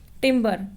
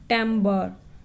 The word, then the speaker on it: timbre: Timbre, pronounced timbre, so it is called timbre actually.